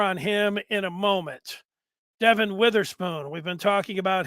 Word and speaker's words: Devon: I know it looks like Devon, but he pronounces it Devon.